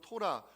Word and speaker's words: 토라: 자 6절 다시 보십니다 율법이라는 단어가 히브리어 발음으로 토라 가르침이라고 설명을 드렸습니다 우리가 말씀을 붙잡고 기도에는